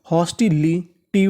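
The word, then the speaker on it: hostility: आगे चलते हैं एओ इसे क्या पढ़ेंगे ह और आगे लिखा है एस टीआई एस टीआई को पढ़ते हैं हम लोग स्टी क्या पढ़ते हैं स्टी तो इतनी मीनिंग मानी हॉस्टी एल आई ली हॉस्टी ली टी वाई टी हॉस्टी टी होस्टिलिटी होस्टिलिटी होस्टिलिटी का मतलब होता है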